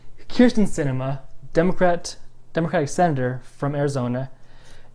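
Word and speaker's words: Kyrsten: I always want to say Kristen Sinema because this is how it's spelled. It looks like Kristen, but no. Kirsten Sinema, Democratic senator from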